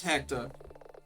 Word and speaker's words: Hector: Hector, your name rhymes with director.